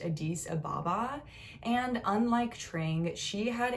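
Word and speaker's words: Addis Ababa: the capital of ethiopia which i believe is pronounced adis ababa and unlike trang she had a very privileged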